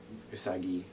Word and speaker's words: Usagi: that usani is using usagi i say it like sailor mars at least i don't know i don't think the new sailor mars voice actors does that but tommy saw michie she she used to say that all the time we're very nasal rest the rest are like usagi so there's the heart g or the soft g and i'm totally getting